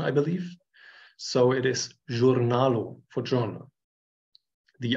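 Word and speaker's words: jurnalo: or noro honor um the J is voiced like s in pleasure or it is more or less the French pronunciation I believe so it is journalo for Journal the r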